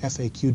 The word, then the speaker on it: FAQ: And please don't call it a FAQ, okay? Don't pronounce that. It's FAQ, frequently asked questions.